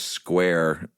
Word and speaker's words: Squire: Uh the man's name is George Square. Uh it is spelled Squire, but he swears it's pronounced Square.